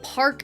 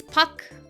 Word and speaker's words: Park: It's not like park, it's puck. You know, the R is kind of implied for the surname.